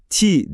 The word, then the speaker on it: ti: Sümercede ok anlamına gelen kelime ti diye okunuyordu ve kolayca çizilebilen bir sembolü vardı. Buraya kadar her şey normal. Şimdi sıkı durun. Çünkü Sümercede hayat anlamına gelen kelime de tesadüfen aynı şekilde yani ti olarak telaffuz ediliyordu.